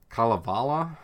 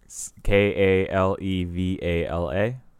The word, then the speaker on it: Kalevala: a death watch bombing on Kalevala I think is how you say it yeah ka le VA la yes Kalevala yeah Kalevala that's